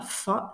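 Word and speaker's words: fat: Alors on prononce ça comme ça, fa, ça veut dire d'un air satisfait et content de lui.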